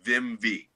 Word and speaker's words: Vimvi: visual for today e-i-m-v-i a lot of people can't pronounce it but i'm going to help you vim v all right for vim and vigor we're just working harder